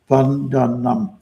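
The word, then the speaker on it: vandanam: Let's say it right. Vanam. three syllables bun and that's prayer.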